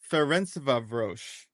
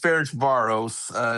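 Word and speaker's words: Ferencváros: Ludogorets versus Ferencvaros. That doesn't sound right. Um, Close, close. what can we expect here? Yeah, so we got Ludogorets here against Ferencvaros, is the correct pronunciation of that one, but that was close.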